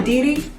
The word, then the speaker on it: Kediri: And was born in Kediri, am I pronouncing it right? Yeah. Kediri, Java.